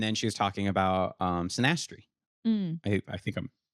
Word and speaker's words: synastry: And then she was talking about synastry. I think I'm pronouncing I that think right.